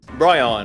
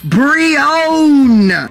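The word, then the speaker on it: Brionne: Bryon. Wait, what? Bryon. Hey, dude! Silent Lucky Cocky himself pronounced it Brion!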